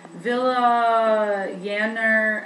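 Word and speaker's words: Vilayanur: name but it's um villa yanner s ramachandran ramachandran i did hear that in the videos i'm pretty sure that's roughly how you say it a lot of times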